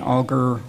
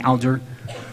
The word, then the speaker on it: Alger: brother of the famous fanny auger or as we generally mispronounce her name fanny alger who lived with the